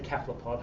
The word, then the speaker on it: cephalopod: Joking aside, it's actually a Greek word, so my understanding is, and my feeling is, that if it's a Greek word, you should say it like the Greeks say it, and they say cephalopod.